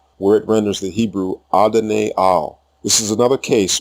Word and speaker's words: Adonai: Adon and Adonai are Canaanite pronunciation. The correct pronunciation in Hebrew is Adonai.